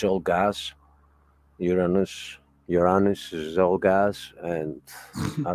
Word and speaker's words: Uranus: It's not my anus, it's Uranus. I didn't say anus. I said Uranus. You have to learn to spell it, and then the joke goes away.